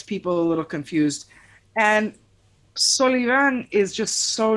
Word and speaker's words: Solivan: at all um so the last name is actually solivan right uh it's very hard to get folks to pronounce that uh though i tried